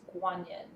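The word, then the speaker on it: 觀音: So I say Quan Yin because that's how most people, especially in the West, tend to pronounce it. But if you talk to someone from China, they will refer to her energy as, or the avatar as Guanyin.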